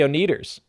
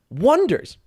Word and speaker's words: Oneders: He's like, look, the Wonders. He's like, looks like the Oneaters. It's like, no. Yeah. Wonders. Got it. Looks like the Oneaters. Mm-hmm. And that is a running gag for the movie of just nobody can say their name right because they don't grasp the wordplay.